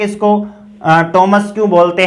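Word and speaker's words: Thomas: अब ये थाईलैंड और थॉमस नहीं है, ये टॉमस और टाइलैंड है। इसका हमने ट्रांसक्रिप्शन किया है ओ टॉमस, टॉमस। इसी प्रकार से ये देखिए टाइलैंड, नॉट थाईलैंड, टाइलैंड।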